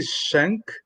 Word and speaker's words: Schenck: a minute uh darren i want to say chennai hopefully is this is the way that you pronounce it um darren i would say i'm gonna say shank shank there we go okay awesome there it